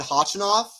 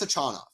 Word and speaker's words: Khachanov: on the ATP website I always said hochinoff I looked it up on the ATP website I think it's a China correct me if I'm